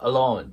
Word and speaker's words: alone: と思いますで最後の Alone なんですけどこのああの部分はシュワーなのであとウの中間ぐらいでえ弱く発音しますでその後の lone なんですけどここは 20 ボイになるので alone All 音を意識して発音してもらえたらと思います